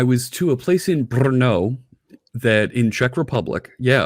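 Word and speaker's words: Brno: yeah oh my gosh you can't say the the town's name without rolling the r that's how you know you're from czech republic because they can actually pronounce it when the americans show up and they go hey where's bernoull no it's not inferno it's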